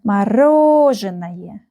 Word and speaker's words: Мороженое: So we have 1, 2, 3, 4, 5 syllables. Yes, we have 5 syllables. And the stress is here. Мороженое.